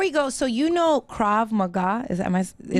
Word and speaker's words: Krav Maga: And before you go, so you know Krav Maga, is that right?